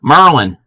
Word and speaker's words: Maryland: So, our first one is Merlin. Merlin. Anybody know what Merlin is? You sure about that? Supreme is a Marylander. Yes, that is Maryland. That is how we... no, not Merlin the magician. Maryland the state.